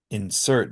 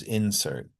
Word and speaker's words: insert: So I'm going to give you some pairs of words, and on the left, you'll see nouns that have primary stress on the first syllable, and verbs have it on the second syllable.